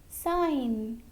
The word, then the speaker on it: sign: Letter G is silent if it comes before an N. For example, align. In this word, before N, there is letter G. So letter G is silent. Next, sign.